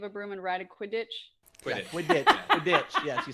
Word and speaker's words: Quidditch: Is that a save a broom and ride a Quidditch? Quidditch. Yes, you say that's exactly how it's let your pronounced.